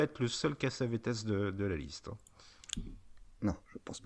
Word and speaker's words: Cassavetes: Et oui, on a changé de prononciation entre-temps parce qu'on ne sait pas trop, donc on dit Cassavetes maintenant.